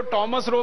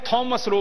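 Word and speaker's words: Thomas Roe: था टॉमस रो अंग्रेज उसको टॉमस रो भी कहते हैं थॉमस रो भी कहते हैं दोनों उच्चारण उसके नाम के हैं तो थॉमस रो पहला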